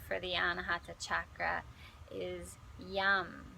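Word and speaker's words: yam: the anahata chakra is Yum it's spelled y-a-m but it sounds like yum pretty appropriate for this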